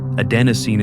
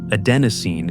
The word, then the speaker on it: adenosine: That molecule has a name, adenosine. Four syllables that contain the gradual dimming of every waking hour. Right now, as you listen to these words, adenosine is accumulating in the